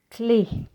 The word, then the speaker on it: clé: Clé, la clé. Éléphant, l'éléphant. See, in clay and elephant, you have an E with an acute accent and you read it as A.